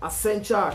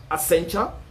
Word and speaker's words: Accenture: fronted by sabina then there is a kencha accenture account i'm not sure about the pronunciation but it's a double c e n t u r e as accenture fronted by one david morade david morada who's